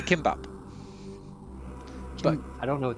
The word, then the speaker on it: gimbap: pronounced as kimbap, which is a Korean dish from cooked rice